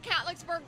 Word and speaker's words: Catlettsburg: My mama was a Catlettsburg girl.